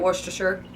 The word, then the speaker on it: Worcestershire: with worcestor okay worcestor I say it Worcestershire Worcestershire okay now apparently this changes in